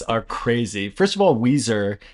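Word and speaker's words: Ouiser: First of all, Weezer, it's not spelled like the band Weezer. It's spelled O UI S E R Bais.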